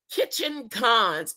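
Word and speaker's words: Ketchikan: Kitchen Cons. Oh, it's spelled it's pronounced Kitchen Con, Alaska.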